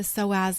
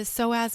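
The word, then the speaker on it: psoas: seeing this energy go right down into the soaz muscle if you need to see a visual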